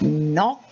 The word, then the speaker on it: knock: knob then there is knock there is not there is no and there is knowledge so all these k's are silent okay now you have